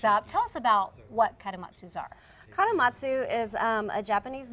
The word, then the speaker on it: Kadomatsu: Kadomatsu.